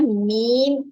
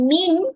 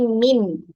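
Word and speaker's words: ميم: sekali adalah huruf mim ejaan yang betul dan sebutannya beton adalah Meme Yamin bukan Minggu tetapi Meme berakhir dengan huruf ini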